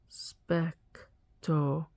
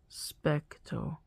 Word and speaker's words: specto: Specto has a short E sound like eh. Specto. That's how I pronounce all my E's in Latin is eh.